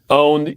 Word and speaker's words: pwned: Shauna says, what do you do after you find out you've been owned? And what the heck is that word? Okay. Owned is, you'll notice on your keyboard that the P is right next to the O.